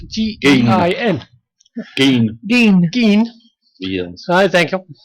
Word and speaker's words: Gein: I'm not sure if I'm pronouncing that right, but it's spelled G-E-I-N.